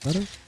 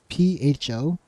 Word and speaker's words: pho: It's called pho, right? But it's what do you call it? It's spelled PHO. So normal people call it pho, but it's not pho. It's pho.